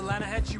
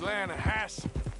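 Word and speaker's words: Lannahechee: rode down to the Lana Hetchy River I caught some beautiful steelhead trout I mean the Lana no Lana hatch it runs right near here yeah but it's pronounced Lana Hass why is everything in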